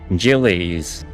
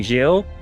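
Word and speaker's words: Gilles: Wait, it's actually Jill. Really? Like Jillies? Jill? No, of course not.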